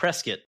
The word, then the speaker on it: Prescott: you call it Prescot if you're from Arizona you'll hear people say presat Arizona and you're like where's that you can't find it on a map because it's actually Prescott is how it's spelled but yeah those are